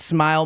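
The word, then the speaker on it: Smael: I believe it's Smile Mondon Jr. That's right. It's not spelled like smile. But it's smile. In like a weird way.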